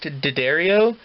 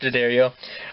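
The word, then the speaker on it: D'Addario: i think it's pronounced daddario yeah i think it's pronounced adario a bottom for about eight bucks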